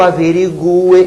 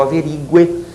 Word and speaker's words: averigue: não que eu averigue que eu averigue que tu averigues que ele averigue que vocês notaram o u é pronunciado porém é tônico é tônico sou obrigado a botar nessas formas verbais o acento agudo que nós averiguemos ó